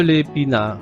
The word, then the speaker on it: l'épinard: Donc de l'épinard sans prononcer le D à la fin.